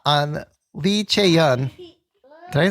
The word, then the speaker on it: Lee Chae-yeon: DAEBAK or not on Lee Chae-yeon?